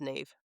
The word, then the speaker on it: Neve: So, I'm thinking Ne Campbell, like the actress from Scream. Is that Ne Campbell? No. Isn't that Nev Campbell? It's Spanish. I think it's still pronounced Nev.